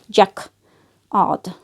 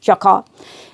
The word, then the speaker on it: jacquard: Jacquard, you say. Jacquard.